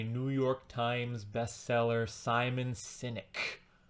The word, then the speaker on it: Sinek: York Times bestseller Simon cynic sinic I think it's pronounced cynic but it's not spelled like like diogenes the cynic it's spelled s i